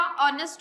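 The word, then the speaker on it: honest: An before words with a silent H. जैसे कि आर हो गया, ऑनेस्ट हो गया।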